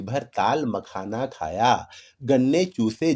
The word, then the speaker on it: ताल मखाना: तालम खाना, जैसे दवा खाना, इबादत खाना, नौबत खाना, उसी तरीके से कुछ लोग इसका उच्चारण तालम खाना कर देते हैं, जो कि गलत है।